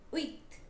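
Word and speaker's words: huit: thing with set is the P in set is silent okay this one wait eight right with H is again silent so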